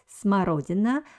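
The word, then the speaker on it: смородина: currant will be so this word uh has two letters o or the second o is stressed so i pronounce it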